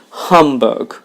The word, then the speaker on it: humbug: understatement it caused frustration humbug the stress is on the first syllable humbug it's the election season